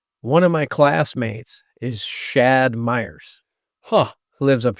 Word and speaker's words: Shad: myself, they go, "Oh, Chad." Yeah. So I usually spell it. I say it's Shad, Shad. So, It's not a lisp. It's actually Shad.